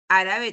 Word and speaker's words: árabe: ahora acá hispano árabe árabe también lo tildo Por qué Porque es una palabra esdrújula de repente también me